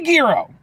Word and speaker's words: gyro: is a burger with gyro meat on it or gyro meat I know it's you know different pronunciations at least I'm called a gyro okay give me Giro give me Giro uh